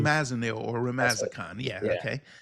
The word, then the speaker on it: flumazenil: I don't know how to Okay, pronounce it. Fluzim. flumazenil or That's it.